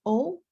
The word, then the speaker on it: eau: be e a U examples in French include o water Mo word the English equivalent is float like floating okay pay attention because